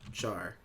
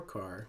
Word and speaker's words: char: In Java, when we want to declare a character, we use the keyword char or car, whichever one you want to pronounce it as.